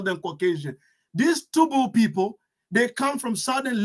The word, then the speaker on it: Tubu: The Tubu people, pronounced sometimes Tebu, are a Sahara ethnic group inhabiting northern Chad.